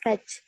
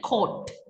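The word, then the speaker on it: caught: வந்து நாசம் செய்திருக்காங்க என்று சொல்லி சொல்றார் the police catch two app them but past tense கோட் coach police quotes two app coach இல்ல கோர்ட் டூ ஆப் தெம் என்ற மாதிரிதான் உச்சரிப்பு வரும் த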